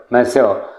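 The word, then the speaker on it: Monsieur: इसको बोला कैसे जाएगा? इसका जो प्रोनाउंसिएशन होगा वो होगा यहाँ पे मैं लिख रहा हूँ म, इसको ऐसे बोल लेंगे म एंड मस्यो।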